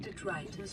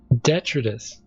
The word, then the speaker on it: detritus: depends on the organic detritus produced by the ecosystem around it. Detritus, not detritus or whatever that was. It's detritus. Computer's pronouncing things wrong.